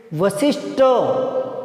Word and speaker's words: वशिष्ठ: आगे देखिए, वशिष्ठ, टे नहीं होता, ठे होता है, वशिष्ठ, गुरु वशिष्ठ, ठे ठठेरा, गुरु वशिष्ठ।